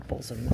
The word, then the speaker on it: Bosham: So just leaving the Millstream Hotel for a morning stroll down through the very, very picturesque village of Bosham, or Bosham as the locals pronounce it.